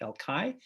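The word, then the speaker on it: El Call: Here I'm showing you a stone in the old wall of the city in the Jewish quarter called El Kai. It's spelled C-A-L-L, but it's pronounced El Kai.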